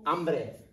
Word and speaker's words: hambre: okay I'm hungry tengo hambre tengo hombre remember that the H is silent this you should already